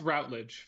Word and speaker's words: Routledge: I've heard people say Rutledge, and I've also like never had anybody specifically correct me or tell me that Routledge was wrong. So Yeah, it's Routledge for me, right? Yeah. Routledge. Four Yeah, just syllables.